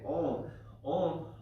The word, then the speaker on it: Om: So when we chant Om together as a pranayama, we're breaking Om up. And so Om is made up of 3 syllables, A, U, and When you combine A and U, you get Om.